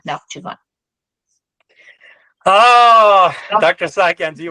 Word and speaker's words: Nakhchivan: It's Nakhichevan is a Russified spelling, if I'm not mistaken. So in like medieval Armenians would call it Nakhchivan, which is actually similar to Azerbaijan's pronunciation today more than Nakhichevan.